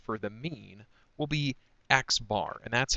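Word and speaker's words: x̄: going to use for the mean will be xbar and that's how you pronounce it literally xbar um it doesn't always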